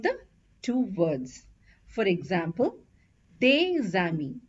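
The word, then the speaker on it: les amis: these are two words this word ends with a consonant so we don't pronounce the S but it's followed by a word that starts with a vowel a so what we do is we do a link this is called as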